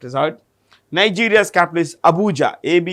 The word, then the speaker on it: Abuja: let's keep it as hard Nigeria's capital is Abuja a bu u j a Abuja by the way who is the current president